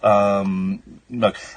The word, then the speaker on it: Moog: It's definitely pronounced Moog. Don't make me get out my clip of, Moog.